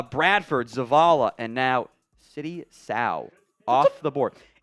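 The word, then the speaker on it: Sow: competition jump coming needs some development he still like a little raw of just the feel of being an offensive guard so City so or sorry City South it rhymes with cow I have that in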